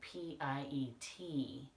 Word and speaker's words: Piet: to Miss Carla, and she said I pronounced it wrong, which I thought I was doing. It's actually Piet. Somewhere I had seen it with an R at the end, but I think that was wrong.